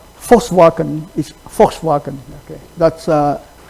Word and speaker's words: Volkswagen: German V, okay, pronounced like F. W pronounced like V. Okay, so like Volkswagen is Volkswagen.